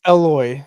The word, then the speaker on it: Eloi: Eli, and I was like, oh, okay, maybe it's Eli, Eli, but it's spelled with an O. Eloi. So yeah. Yeah. Eloi, lama sabachthani. Mm-hmm. So Sabachthani. No, whatever. Oh, yes, it's midnight. I'm tired. I'm also tired. But yeah, it's Eloi. It's from Elohim, so it's Eloi.